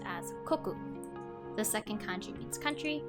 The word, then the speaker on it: 国: The first character is katakana for ka, and the second kanji is pronounced as koku.